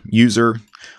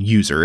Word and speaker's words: usr: has three letters usr everybody pronounces it as user when they're talking about the path so i'm going to